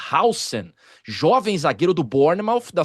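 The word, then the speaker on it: Huijsen: É, hoje eu vi um uma notícia que parece ser bem interessante assim, o Hausen, eu chamava de Hen, mas a pronúncia correta é Hausen, jovem zagueiro do Bornemouth, da seleção espanhola também.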